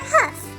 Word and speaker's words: hoof: Do another leg with another hoof. Or hoof. Either pronunciation is acceptable.